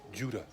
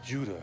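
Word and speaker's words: Ouidah: who don't know what I'm talking about that's Judah o-u-i-d-a-h is Judah her name is Wida or Wida and she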